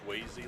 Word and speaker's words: Swayze: awesome oh and also this is Swayze like oh okay like Patrick Swayze okay cool all right